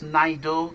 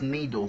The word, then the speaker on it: NIDOE: on the pronunciation um some pronounce naido some pronounce Nido which one is correct H I think both are correct because depending depend if